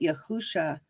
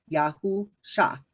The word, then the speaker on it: Yahusha: Deuteronomy 34:9 tells us that yahusha, which is the Hebrew name for Joshua, yahusha, right? It's spelled YAHUSHA, okay, as a transliteration, okay?